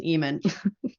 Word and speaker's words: Ehman: as we see them someone asked how to pronounce my last name it's Eman perfect I'm surprised they